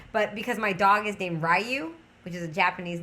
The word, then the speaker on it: Ryu: It's not Ryu. It's Ryu. I think is how it's pronounced instead of Ryu. So it's. I guess it's almost like I'm saying the name wrong, but I'm not because it's from a Street Fighter character.